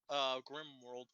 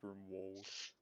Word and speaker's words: Grimwold: I feel slightly amused how Rai keeps pronouncing it Grimworld instead of Grimwold.